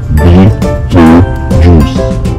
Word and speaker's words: Betelgeuse: It's pronounced as Betelgeuse.